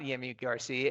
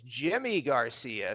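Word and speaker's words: Yimi García: out of the bullpen, is Yimi Garcia, but it's not Yimi Garcia, it's Jimmy Garcia, spelled with a Y.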